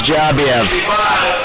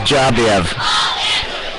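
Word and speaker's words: Dzhabiyev: Now, I'm going to tell you his last name is Jabiev. Jabiev. His first name is Vlad. So Vlad Jabiev. This is how you spell his last name. D-Z-H-A-B-I-Y-E-V. And that's pronounced out is Jabiev.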